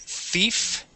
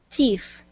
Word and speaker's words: thief: Thief. All right, let's talk about the TH, okay? So when we pronounce the TH sound, like in thief, our tongue goes between our teeth, just like that.